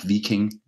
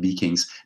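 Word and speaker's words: Wiking: has come out Mike vicking uh uh and it's I know it's a w but it's pronounced in Danish with a singly by Mike beakings the little bow bug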